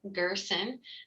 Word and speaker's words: Girson: My name is Girson. To pronounce it correctly, it rhymes with person, and I like to use the mnemonic of special person.